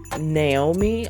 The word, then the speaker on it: Noemi: I think her name is pronounced Naomi, although it looks like Noemi Gonzalez from Undercover Holiday.